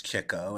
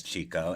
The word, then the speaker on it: Chico: out in later interviews, lots of journalists address Chico as Chico, and he never corrects them and tells them that they're pronouncing his name wrong. And I also think, although I say Chico chiefly because Groucho did, and I want to feel as authentic to those guys as I can.